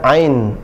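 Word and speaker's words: عين: Kemudian ain, nah ini ada nunnya, al-ainu, cara bacanya ain, ya, biasa kita menyebutkan ain, pasti ada nun terakhir, maka di situ didengungkan. Ain.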